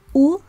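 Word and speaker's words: ו: Ani ba'al Abba u ben. Ani ba'al Abba u ben. Ani, I am. Abba is dad. Ba'al is husband. And the conjunctive vav is pronounced as u here instead of ve.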